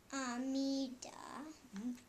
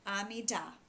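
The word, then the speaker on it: עמידה: Amida. Amida. Amida. Did you know that in Hebrew uh usually you emphasize that final syllable? So amida, not amida.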